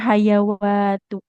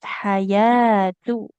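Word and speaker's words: حياة: Nah, kemudian ini bukan hayawatu. Nah, ini alif kecil jadi huruf huruf mad ya. Nah, yanya fathah ketemu alif kecil panjang dua harakat. Jadi bukan hayawatu tapi hayatu.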